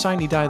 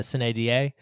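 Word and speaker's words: sine die: thomas you just pronounced shiny die the way the senate pronounces it not the way the house pronounces it or the way the romans would have pronounced it uh cine d a yeah well this crossover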